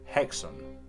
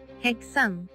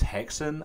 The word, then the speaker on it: Häxan: I've scoured everywhere and in its native Swedish it's pronounced hexon hexon hexon in Danish it's hexen and many people use